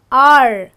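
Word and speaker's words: hour: don't we say an R so why do we say an R because this again is silent and this is my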